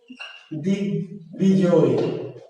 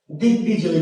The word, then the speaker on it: দিগ্বিজয়: যেমন দিগ্বিজয়, দিগ্বিজয়, দিগ্বিজয়, তাহলে বয়ের উচ্চারণ হয়েছে।